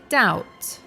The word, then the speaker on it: doubt: the other one is doubt which has a silent B so it's pronounced doubt if you want to